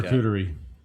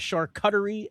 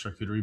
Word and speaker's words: charcuterie: Charcuterie. Is it charcuterie? Charcuterie. Charcuterie. Charcuterie is correct. Okay. It's a French French word, not shark cuttery, nor shark charcuterie. Not sharkoochi, which is what we call it.